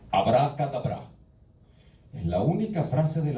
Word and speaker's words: abracadabra: Realmente no se pronuncia así, se pronuncia correctamente abracadabra.